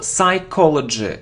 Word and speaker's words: psychology: it isn't psychology no we don't pronounce P so psychology psychology of dumb brands